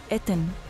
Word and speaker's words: أتن: أول علامة منطوقة هي على شكل نبات البوص وتتنطق إيه، وتاني علامة منطوقة هي نصف رغيف الخبز وتتنطق ته. أما علامة أمواج المياه هي حرف النون وتتنطق أن، والكلمة على بعض تتنطق أتن.